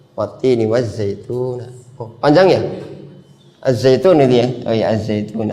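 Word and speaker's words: الزَّيْتُون: Azzaitun. Nah. Azzaitun. Zaituna ya. Zaitun. Zaitun ya. zaitunu ya zaitun zaitun. Nah za azzaitun bukan alzaitu.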